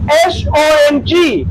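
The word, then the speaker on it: ห้อง: Hong is spelled by H-O-N-G, like Hong Kong, but no shopping.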